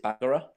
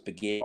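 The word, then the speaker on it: Bagheera: it to me and she would always pronounce it bagera and I remember getting so like every single time going no it's beir over and over and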